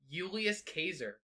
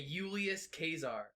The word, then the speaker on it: Julius Caesar: it would be pronounced julius caser because j's didn't exist and the c-a-e is actually like a k sound so it's like a kazaar so it's like a euless kazaar yeah thank you jacob